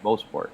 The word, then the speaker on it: Mosport: I know I always say it wrong. It's Mosport. Oh, I got it right, and I doubted myself.